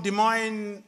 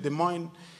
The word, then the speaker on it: Des Moines: It came from Des Moines, Iowa. I hope I'm saying it properly. I learned it. Des Moines. It's a very difficult word to pronounce in my language. Des Moines, Iowa.